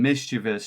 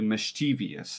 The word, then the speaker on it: mischievous: that this word has changed so much from mischievous to mischievous that's wild it's fascinating but as you see